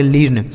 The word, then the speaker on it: learn: लेकिन कुछ शब्द ऐसे होते हैं जहां पर इ ए का उच्चारण हमें बड़ी की मात्रा नहीं करना होता है। जैसे एल इ ए आर एन। तो आप देखिए कि यहां भी इ ए लिखा गया है। लेकिन इसे हम ऐसे नहीं पढ़ेंगे। एल से ल इ ए का उच्चारण बड़ी ई की मात्रा आर से र और एन से न। इसे पढ़ेंगे लर्न।